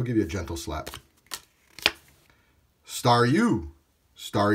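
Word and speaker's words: Staryu: you and he'll give you a gentle slap star U star U is pronounced star u because it's a star spinning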